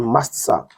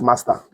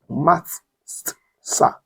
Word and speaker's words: matzah: And they shall eat the flesh in that night, roast with fire and mastsa. The word matzah, not master, mastsa. It simply means unleavened bread. It's pronounced mastsa.